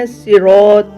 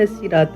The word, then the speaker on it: الصراط: ہے اہدنا الصراط المستقیم۔ صراط کے صحیح تلفظ کو صاد کے طور پر یقینی بنائیں، یعنی بھاری آواز کے ساتھ صاد کا تلفظ کیا جانا چاہیے، سین کی طرح باریک کر کے نہیں پڑھنا۔ مثال نمبر 2، سورہ